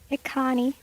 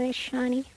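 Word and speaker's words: Echani: Oh my god, I always pronounced it as Ikani. I didn't realize that it's called Ishani.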